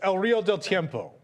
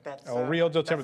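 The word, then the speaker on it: El Río del Tiempo: El River de Tiempo. I'm gonna give it to you. It's El Rio del Tiempo. El Rio del Tiempo. That's the next pronunciation.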